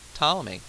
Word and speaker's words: Ptolemy: but before Copernicus was Ptolemy Ptolemy is that name with a pig in front of it that you don't pronounce now Ptolemy came along